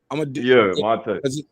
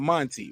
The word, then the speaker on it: Monte: Monte. All right, so it looked like Monty though. It's not Monty, right?